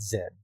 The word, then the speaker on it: Zed: I can pronounce it Z or I can pronounce it Zed.